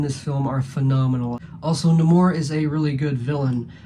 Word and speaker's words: Namor: as killmonger was also I am aware that it's pronounced Namor in the comics but the film pronounces it no more so I'm gonna go